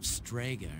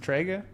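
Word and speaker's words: Strega: know two members of stga are still alive it's pronounced trga they haven't done anything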